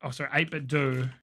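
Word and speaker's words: 8BitDo: Like my 8-bit Do Ultimate, 8-bit Do, because I've been pronouncing it wrong forever.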